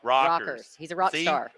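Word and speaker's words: Rekers: right now Brent Rikers rakers badass dudes rockers is how I should pronounce it but it's spelled r-e-k-e-r-s this dude's awesome Triple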